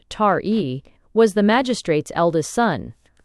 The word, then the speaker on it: Taee: The child, whose name was Ti, he pronounced Tari, was the magistrate's eldest son.